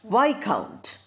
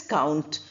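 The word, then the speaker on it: viscount: Then we have a title you know this is a noble title in England that is Y count not count but Y count.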